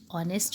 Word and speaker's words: honest: Honest means ईमानदार. बेटा इसमें H होता है लेकिन H की साउंड नहीं बोली जाती. हम इस वर्ड को प्रोनाउंस करते हैं honest.